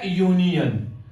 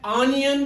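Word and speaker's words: union: सो यहां पे देखेंगे ए यूनियन, तो यहां पे अगर हम इसको पढ़ते ए ऑनियन तो वो होता, लेकिन इसको यूनियन पढ़ा जाता है इंग्लिश में, इसकी प्रोनाउंसिएशन है यूनियन, तो हमें लिखना है ए यूनियन।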